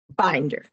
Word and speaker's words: Binder: Tell me the right pronunciation. Is it Binder or Binder? Binder.